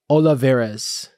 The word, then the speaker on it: Olivarez: And without further ado, let's meet our special guest today, coming to us all the way from El Paso, Texas, Tommy Olivarez.